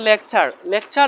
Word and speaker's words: lecture: লেটারের পরে ইউ আরই আছে তাহলে এজন্য টির উচ্চারণ কি হবে চার হবে তারপর লেকচার লেকচার এই ওয়ার্ডের মধ্যে টির পরে ইউ আরই আছে